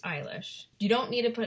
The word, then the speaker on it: Eilish: I know her last name is pronounced Eilish.